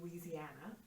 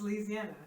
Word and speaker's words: Louisiana: American, I don't say Louisiana. I would never pronounce every syllable. Louisiana. It's Louisiana, right? You don't Louisiana. Like you do not pronounce the syllables.